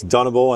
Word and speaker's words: Dunable: here with Sasha from Dunable Guitars. These really unique looking guitars. He just cleared up for me that it's Dunable and not Dunable, so we have to pronounce the name correctly.